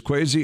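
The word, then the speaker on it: Kwesi: to know is is crazy adofo mensah that's first name is spelled k-w-e-s-i but crazy uh a dofo mensah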